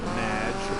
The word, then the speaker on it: Madge: show thanks amy however you have mispronounced my name it's madge anyway thank you for